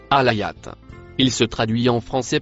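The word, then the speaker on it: الآية: Le mot en vert se prononce alayat. Il se traduit en français par verset ou miracle. Compréhension du mot alayat dans sourate 79 verset 20.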